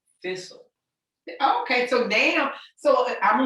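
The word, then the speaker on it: Thi'sl: Thistle. Yeah, it's spelled Thi.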